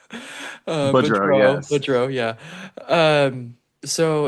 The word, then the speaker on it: Boudreau: Boudreau, Boudreau, yes.